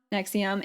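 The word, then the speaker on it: NXIVM: one we want to talk about is called nexium it's spelled in x i b m but it's yeah exactly but it's pronounced nexium and just to let you know like this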